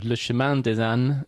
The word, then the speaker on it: Le Chemin des Ânes: How do you pronounce... Oh, Le Chemin des Ânes, Le Chemin des Hommes.